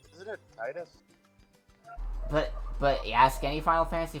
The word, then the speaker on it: Tidus: Everyone will say, it's Tidus, it's Tidus, it's Tidus. You wanna know what his name has only ever been pronounced as in the fucking games? Titus. Titus, I think, makes more sense. Like, they pronounce it in Kingdom Hearts, they pronounce it that way in fucking Dissidia. It's Titus.